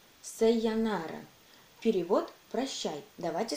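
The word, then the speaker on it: さようなら: И это слово читается как «сайонара».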